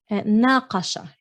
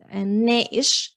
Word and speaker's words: ناقش: ناقش in standard, but in Lebanese the qaf often becomes a hamza, so ناقش to we review or we discuss.